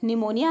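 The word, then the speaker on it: pneumonia: to neutralise निमोनिया अच्छा निमोनिया की जो स्पेलिंग होती है हम लोग उसे पढ़ते निमोनिया है लेकिन ये पी से स्टार्ट होती है कुछ इस तरीके से ठीक है तो इसकी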